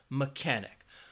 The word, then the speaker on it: mechanic: or chess or match but in this case that H it's silent so it has that cooker sound mechanic now of course let's